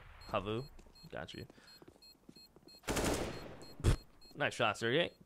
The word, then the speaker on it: HAVU: He realizes those smokes are tossed, so HAVU, I keep saying that wrong, HAVU can push towards outer yard.